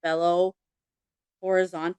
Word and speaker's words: Belo Horizonte: Continuing to Brazil, Jim's family rented a modest 3-bedroom home in Belo Horizonte. I think that's how you pronounce it. That's right.